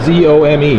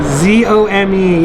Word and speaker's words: Zome: Z-O-M-E, yeah, and the E sounds a little funny, kind of like Kobe. Yeah. And so in Japan, they pronounce it that way. So if you see it in print, just know that it's not Zome, it's Zome.